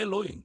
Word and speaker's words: Elohim: A pronúncia correta é Eloen. O eh inicial é curto como um estalo de dedos. O L é longo como uma onda quebrando na praia. O infinal é vibrante como um enxame de abelhas sagradas.